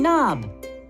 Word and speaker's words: knob: Knock and knob. We do not pronounce the K at the beginning of these words, just like we do not pronounce the K at the beginning of night.